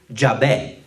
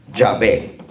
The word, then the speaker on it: Yahvé: Y para pronunciarlo sonaría algo como lo que estamos acostumbrados a oír: Yahvé. Yahvé, ¿verdad? Entonces esa es la pronunciación o el sonido judío que se le